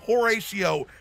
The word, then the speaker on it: Horatio: Yes, I called him Horatio. You have a problem with that? The no. Golden Horatio? I mean, you know, his name rhymes with fellatio.